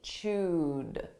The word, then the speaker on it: chewed: a past simple verb but the pronunciation is a soft D chud now again we can